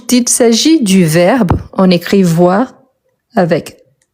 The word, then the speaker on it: voir: Ici, voir le verbe, on prononce le R à la fin.